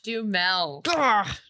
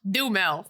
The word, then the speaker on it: Duhamel: Josh Duhamel. See, I had the right syllables. Josh Duhamel. Duhamel.